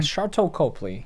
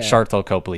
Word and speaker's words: Sharlto Copley: Sharlto Copley. Yeah. Sharlto Copley.